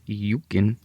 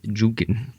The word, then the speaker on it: El Yunque: Because of its location, right next to the El Yunque, and I said it wrong. It's Yunque. El Yunque.